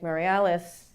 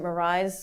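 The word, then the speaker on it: Meirelles: a man named Henrique Mariales. I pronounced it Moraes because for some reason my Portuguese is very bad. I was corrected last night actually in Berkeley about my pronunciation of his name.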